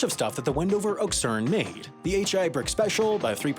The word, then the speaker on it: okšurn: But we aren't doing that, so it's unframed and informal, which means I must stress the final syllable. And now we can finally say our word, Oxern.